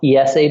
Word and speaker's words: IESE: this school so here in Spain it's it's pronounced ESA Business School in English IESE and we intermittently